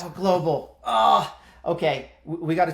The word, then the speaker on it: TOA Global: is quite interesting of ta Global tell me if I got that pronunciation right uh Nick I probably didn't Tower Global is probably a little bit clean of it yeah it's close Tower Global oh okay we got